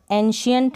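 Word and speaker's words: ancient: तो आपको यहाँ पर श पढ़ देना है, किसको, सी को श पढ़ देना है। एंशियंट स नहीं पढ़ेंगे, श पढ़ेंगे। एंशियंट, एंशियंट हो गया, सफिशिएंट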